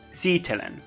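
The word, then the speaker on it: sitelen: means image or text remember stress goes on the first syllable si telen here's a useful pair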